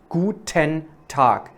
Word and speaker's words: Guten Tag: Pronounce Guten Tag really like that with ta. Guten Tag.